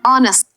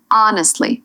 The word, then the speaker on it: honestly: The H at the start is silent. You say honestly, not honestly. If you pronounce the H, it sounds unnatural to a native speaker.